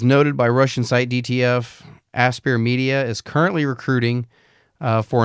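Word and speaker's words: Aspyr: wound up at asper aspire aspire is that how you say it aspere asp it's probably aspire um so the fact that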